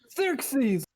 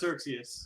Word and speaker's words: Xerxes: Xerxes, my old pal, how are you? First of all, it's pronounced Xerxes.